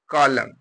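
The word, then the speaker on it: column: में एम और एन जिस वर्ड के अंत में एम और एन हो एम हो और जस्ट तुरंत उसके बाद एन हो तो ऐसे कंडीशन में एन साइलेंट हो जाता है इस चीज को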